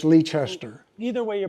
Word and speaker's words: Leicester: The locals call it Leicester, and if you're not from here, it's Leicester.